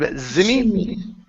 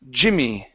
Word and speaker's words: Jimmy: Okay, instead of Zimmy, Jimmy.